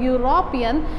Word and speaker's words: European: Problem is this European, when we pronounce the word European, that is not giving the sound of E, this is giving sound of U. It is YU, or you can do YOO.